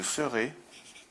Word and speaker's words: serai: Je serai, donc S-E-R-A-I. Je serai absent. Ça se prononce « et » la semaine prochaine.